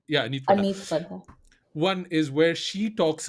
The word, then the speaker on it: Aneet Padda: Anit, is it? Padda, Anita? yeah. It's Aneet a Padda. weird, I find it a weird name to pronounce. Yeah, Anit Padda. Aneet Padda.